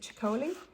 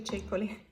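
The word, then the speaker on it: Ceccoli: honey now I know that everyone pronounce it pronounces it chicoli being Italian I can assure you it's actually chicoly she's from San Marino by the way San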